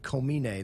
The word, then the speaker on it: Komine: But Komine, that's the way that he always told me that he's pronounced it.